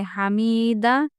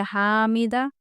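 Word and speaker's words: حميدة: और अगर आप बोले हामीदा तो यहां पे अलिद बढ़ जा रहा। ठीक है? तो ये सारे गलत हैं। आपको सही प्रोनाउंसिएशन कैसे करना है इसका? हमीदा बस इतना ही करना है।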